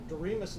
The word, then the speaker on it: Doremus: Doremus is correct, but Okay.